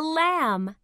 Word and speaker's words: lamb: This is a lamb. What's the ending sound in lamb? Mm. That's right. Mm. Lamb. Can you hear the b sound in lamb? No. That's right. The b is silent.